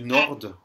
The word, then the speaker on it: nord: J'ai entendu nord. Non, c'est nord. Le D ne se prononce pas du tout à la fin.